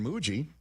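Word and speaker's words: Mougey: And sure enough, the new general manager, Darren Muji, rhymes with Bougie.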